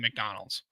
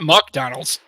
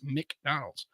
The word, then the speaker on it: McDonald's: is it it's Muk Muk Muk not Muk Donald's it's mck like word like a mick M like m i k McDonald McCarthy McCarthy that's m a r t h y m McCarthy like you know general Douglas Mark Arthur and mcarthy yeah it's not Mac Arthur it's McDonald's not Mick either I know it's not